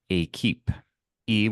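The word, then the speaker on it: équipe: There is a word and it's pronounced a keep e with an accentu qu i p e that is the French translation for team.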